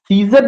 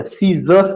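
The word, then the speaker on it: scissors: सीजर नहीं कहना, सीजर्स कहना, मैथ्स मैथ नहीं कहना, मैथ्स कहना, इधर मैथमेटिक्स कहना है।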